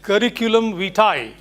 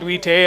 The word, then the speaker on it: curriculum vitae: That is pronounced as curriculum vitae, not vitae or vice.